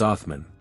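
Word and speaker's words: عثمان: of Southeastern Central Europe in Arabic his name is pronounced as athman because of this this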